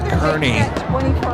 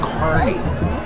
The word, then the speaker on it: Kearney: Give credit to Ben Kearney. See, I'm from Nebraska, so I want to say Kearney, but I believe it's Kearney is how it's pronounced.